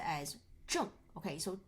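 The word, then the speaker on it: 正: So, this character is pronounced as "zhèng". Okay, so "zhèng" means right or correct.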